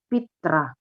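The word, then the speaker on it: Петра: Kalau dia jadi objek, dia nggak Piotr, tapi Petra. Yo-nya ganti jadi Y. Ini dia.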